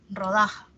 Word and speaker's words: rodaja: La mayor fuerza de voz está en da, rodaja.